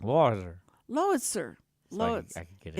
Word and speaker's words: Lowitzer: You kind of like, Lowitzer. Lowitzer. So I could get it. It's like, tell me what to compare it to. Like howitzer, Howitzer? spelled like howitzer, but Lowitzer.